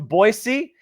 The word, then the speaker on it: Boise: Kelly's from Boise. And notice, Kelly, I know how to say it. There's not a Z. It's an S. It's Boise, Idaho.